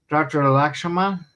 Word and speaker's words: Lakshmanan: Lakshmanan. Is that how you pronounce it?